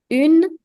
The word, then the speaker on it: une: Now, make sure you pay attention to this because it's very common for people to mistake the pronunciation between these two. People have a tendency of saying une with this, but no, this is un, and the feminine version of the article is pronounced as une.